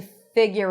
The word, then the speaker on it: figure: I love this phrase to figure it out. Figure. Figure. So you can add a little Y sound there, but there is no U even though there is the letter U.